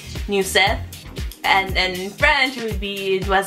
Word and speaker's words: Neuzeth: my middle name is new set imagine the word new and then the name seth and you said that's how you would pronounce in english and spanish i usually just say new set and then french would